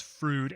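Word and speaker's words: Froude: but from his disciple frood also a great historian to add to the fun fruit is pronounced just like the way keanu reeves says fruid and bill and ted's excellent adventure someday i will read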